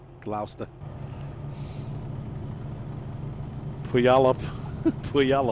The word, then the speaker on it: Gloucester: Wis ter Oh Gloucester yeah gosslau Chester right Glouster we all up we yell up you guys